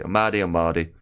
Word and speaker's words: Mardy: Hello there to you, Maddie. Hopefully I've not butchered that. I'm sure it's just Mardy. Mardy.